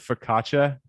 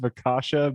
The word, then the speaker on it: focaccia: It always reminds me of focaccia bread. I always said focaccia, but people say focaccia is the right way to say it.